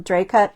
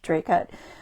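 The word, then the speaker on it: Dracut: going around seline's from draut Massachusetts or they probably don't say it like that Dr Dre cut we say Dre cut um but this little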